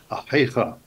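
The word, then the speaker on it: אחיך: Literally, more correctly, it would be Achicha. But it's hard for people to pronounce that letter that exists between a regular H and a Chaf.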